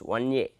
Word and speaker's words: Ia: So, pronounced 1a ok , but usually in textbooks its written like that . It is not ia interneuron, but rather 1a interneuron ok .